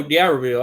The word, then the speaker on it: D'Iberville: Oh, D'Iberville. Okay, yeah, D'Iberville.